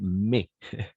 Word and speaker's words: mais: en effet mais ici on va prononcer mais pas maïs parce que il y a un mot en français my maïs d'accord et c'est pas la même chose avec mais maïs ça veut dire oui